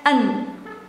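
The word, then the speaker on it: een: it instead of ein, you pronounce it as an.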